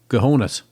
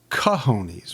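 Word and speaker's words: cojones: I mean, they That's uh some gahones. Now you're calling them gahonesies. What do you think uh should be said as? Well, it's pronounced kahonies.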